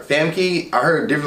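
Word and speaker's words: Famke: probably her name wrong probably like her fam key i heard different like somebody say funky finn funky i'm calling her fam key that's where he spell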